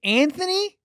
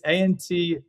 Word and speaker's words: Antony: Is it Anthony? No, it's Antony.